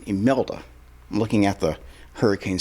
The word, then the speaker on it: Imelda: Imelda. I'm looking at the Hurricane Center pronunciation. Imelda with an I.